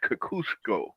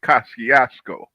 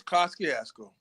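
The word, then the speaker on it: Kosciuszko: in the city that want to pronounce the name as Kakusco. While me and you, hardboiled old school OG New Yorker, we say Kasiasco. It's Kaskiasco. Thank you.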